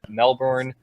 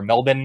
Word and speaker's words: Melbourne: We've also had rumors about Toronto and Melbourne, or Melbourne as it's actually pronounced.